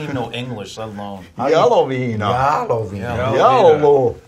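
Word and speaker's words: Jaloviina: J-Lo Vina. What the fuck is this? J-Lo. That's what he can't. He doesn't even know English, let alone. Yellow Vina. Yellow Vina. Yellow. It's like jalapeno.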